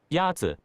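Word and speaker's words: 鸭子: Yatsu. Is pronounced with a first tone. In Mandarin, there are 4 tones, which are essential to distinguish the meaning of words. The first tone is a high, level tone.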